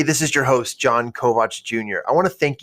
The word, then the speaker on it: Kovach: And you can find me through social media at John Kovach Jr. That's it. JONKOVACHJR. And yes, it's spelled Kovach, not Kovich or Kovac.